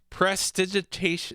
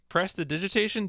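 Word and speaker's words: prestidigitation: digitation press the digitation do you actually say the extra syllable for some reason in my mind I wanted to say press digitation but I don't think that's right I don't know if I've ever said you do say the extra syllable press the digitation okay I don't think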